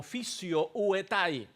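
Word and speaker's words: φυσιοῦται: está usando un verbo llamado o mejor dicho que se pronuncia como fisio uetai.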